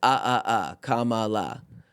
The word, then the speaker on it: Kamala: It's like it's Kamala.